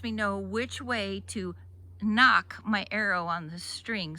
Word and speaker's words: nock: fletching, and that tip, which is called the knock. We spell it N-O-C-K. The K-N-O-K, that's what you do on the door. Knock, knock, knock. N-O-C-K, knock. This is called the fletching.